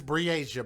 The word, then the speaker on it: Breasia: Her name is Breasia, by the way. But I know they pronounce it a little bit wrong, but it's kind of hard for them to pronounce these non-traditional names.